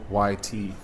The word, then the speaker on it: Győr: It's Goyt.